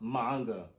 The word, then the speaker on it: manga: not in here P about some manga it's pronounced manga you don't hear me calling your books bucks